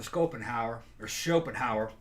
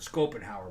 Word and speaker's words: Schopenhauer: Okay, and Friedrich Nietzsche and another guy named Arthur Schopenhauer, depends on how you want to pronounce it. I heard Schopenhauer, but some people say Schopenhauer.